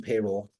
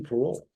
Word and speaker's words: Parole: Now, I used to eat in Payroll, Maryland, for many years, all the time.